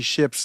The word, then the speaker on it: Ships: Then I go to Google and I say, Google, how do you pronounce Johnny Ships' last name? And Google says, Johnny Ships' last name is pronounced like the English word ships, while his real name is Jonathan Shapiro.